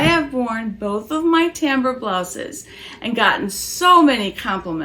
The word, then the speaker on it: Timbre: I'm giving you a full review of the tamber peasant top and yes it is pronounced that way by love otions stay tuned